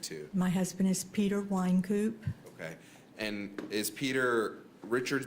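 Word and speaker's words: Wynkoop: is f r a n c s wine coup w y n k o o p all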